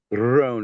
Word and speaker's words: Guadrone: It's So what is your- Guadrone. You're supposed to roll the R, but I can't do it very well.